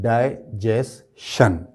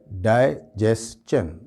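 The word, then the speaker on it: digestion: है आपने सुना होगा, तो वो बोलते हैं डाइजेशन, जबकि इसका जो सही प्रोनाउंसिएशन है वो है डाइजेशन। शन नहीं होगा, चन होगा, ये डाइजेशन।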